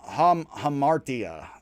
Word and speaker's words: hamartia: the fatal flaw um hamartia and again that is as i'm gonna pronounce it i've heard it differently um paradoxically the greatest